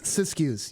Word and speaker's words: Siskiyous: of the, and I'm going to butcher the pronunciation here, Siskiyous? Yes. Fantastic. Yes, Siskiyous.